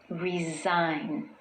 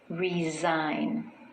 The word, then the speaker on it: resign: The s in the spelling actually sounds more like a Z. Resign. Resign.